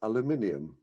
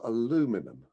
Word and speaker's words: aluminium: that will in future be spelled and pronounced aluminium not aluminum unbelievable number two i